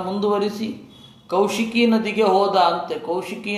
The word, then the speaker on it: ಕೌಶಿಕಿ: ಕೌಶಿಕಿ ನದಿ ಅಂತಂದರೆ ಕೋಸಿ, ಇವತ್ತು ಕೋಸಿ ರಿವರ್ ಅಂತ ಕರೀತಾರೆ, ಅದರ ಸರಿಯಾದ ಉಚ್ಚಾರ ಕೌಶಿಕಿ ನದಿ ಅಂತ.